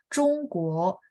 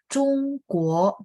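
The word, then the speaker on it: 中国: Oke, Zhongguo, guo ada dua ya. Zhongguo. Jadi ZH confirm tidak ada angin, bacanya bersih ya.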